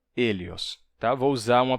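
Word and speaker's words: ἥλιος: O Hélios. Tá? Vou usar uma pronúncia do período Koiné, certo? Não vou usar a pronúncia do ático clássico, mas uma pronúncia do período Koiné, que é, inclusive, a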